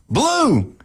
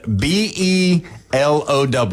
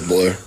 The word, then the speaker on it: Below: his name is spelled B-E-L-O-W, right, Coach? Yep. And that's not how, but it's not below. Nope. You can say whatever you want, but it is blue. It's blue, like the color.